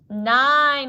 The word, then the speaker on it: nine: is that word n nine and this is a great example of the words with the silent e you don't hear that e but it's there nine so now we're gonna